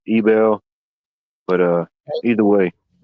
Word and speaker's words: Abel: Well, it's A-B-E-L. I don't know how you pronounce it, Abel, Ebel.